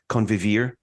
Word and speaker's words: convivir: and again, I'm going to ask you to pronounce this properly, convivir.